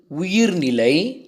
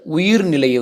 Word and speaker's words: உயிர்நிலை: பார்ப்போம் முதலில் அன்பின் வழியது உயிர்நிலை அக்திலார்க்கு என்புதோல் போர்த்த உடம்பு இதை ரொம்ப பேர் வந்து உயிர்நிலையை வந்து உயர்நிலை என்று உச்சரிக்கிறார்கள் இல்லை தவறு அன்பின் வழியது உயிர்நிலை அக்திலார்க்கு இன்புதோல் போர்த்த உடம்பு என்று தான் நாம் வந்து வாசிக்க வேண்டும் அன்பு அன்பின் வழியில் அப்படி என்றால்